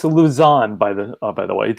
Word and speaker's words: Lausanne: And it's Lausanne, by the way, Lausanne, Switzerland. Thank you. Yeah, I knew I was really not pronouncing that right.